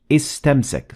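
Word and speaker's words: استمسك: As you can see, I'm completely ignoring the alif in istamsak.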